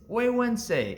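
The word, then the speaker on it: Güegüense: one of the more difficult cigar names to pronounce in the space it's huensei and it rolls right off the tongue at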